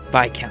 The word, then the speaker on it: Viscount: Okay, so S is silent. I can't pronounce stuff. Viscount.